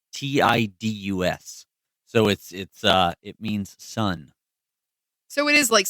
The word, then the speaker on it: Tidus: The name Titus has Okinawan and Japanese roots, so it is Titus, apparently. I will never pronounce it that way. I know, because I thought Roman. I thought like that's where I went with Titus. it too. Thank you. Yeah, but it's It's Tidus.